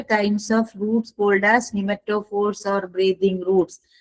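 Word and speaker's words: pneumatophores: निमेटोफोर्स। Piece silent है निमेटोफोर्स।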